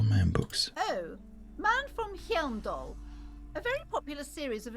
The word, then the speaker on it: Hyamdal: Nearly all the titles contain the word Hyamdal somewhere. Hyam. I don't think you pronounce the H.